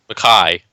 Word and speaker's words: Mackay: As we all know, I am amazing at pronouncing names. Mackay.